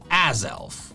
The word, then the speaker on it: Azelf: The official pronunciation is azelf. Azelf. Just like Newmal and drapion before it, I saw one consonant and assumed it was a long vowel.